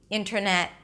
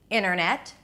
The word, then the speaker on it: internet: I'm moving from the N to the rest of the word, skipping the T.